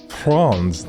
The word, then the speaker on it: Franz: Did y'all know it's pronounced Franz, not Franz Ferdinand, like all my teachers in the deep south used to say?